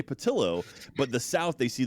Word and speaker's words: Pattillo: the one and only Jack patio how are you doing today sir I'm doing very very well it's patillo see we talked about this